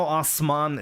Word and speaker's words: Osman: Jimmy, you know Osman is pronounced with sharp S, right?